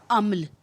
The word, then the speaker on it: عمل: آپ دیکھ رہے ہیں عین کے اوپر زبر ہے، میم کے اوپر زبر ہے اور لام جو ہے وہ ساکن ہے۔ پہلے دونوں حرف مفتوح،